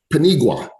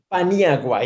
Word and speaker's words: Paniagua: i say it right panigua almost paniagua indeed all right we got